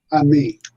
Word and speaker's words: Ammi: um is it how is your last name pronounced Ami Ami Ami okay tump and me